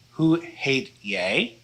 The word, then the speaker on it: hoe heet jij: So this is pronounced hoe heet jij?